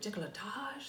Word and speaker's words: décolletage: Décolletage?